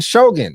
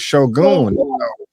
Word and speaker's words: Shōgun: we are talking Shogun I have been pronouncing this episode or the title or the this show wrong I keep I keep saying Shogun but it's Shogun I know sh I